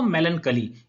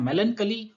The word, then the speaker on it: melancholy: मेलनकली के 2 प्रोनाउंसिएशंस होते हैं, एक तो होता है मेलनकली और दूसरा आता है मेलनकॉली। मेलनकली बोले ये भी करेक्ट है, मेलनकॉली बोले ये भी करेक्ट है।